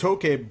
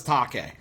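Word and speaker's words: Taake: It is properly pronounced Toke, but when he plays in the U.S., when a host is doing vocals, he says Take, because he's just like, fuck it, whatever.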